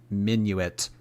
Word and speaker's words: Minuit: Hey, Jord, that other person who became a member, Minuit, was me on another account. Had to do a double member moment. Oh, it's pronounced Minuit. The N is silent. Minuit.